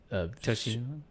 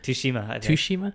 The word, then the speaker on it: Tsushima: So the nominations were Ghosts of Tsushima. I don't know. Tsushima. I think the T is silent. Tsushima.